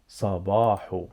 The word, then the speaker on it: صباح: Sa. Ba. Hu. Hu. Actually, the sound here is not H. The sound here is ha, ha, ha, ha.